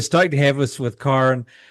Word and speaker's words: Kyren: It's Kyren. There you go. Much nicely pronounced, that's for sure.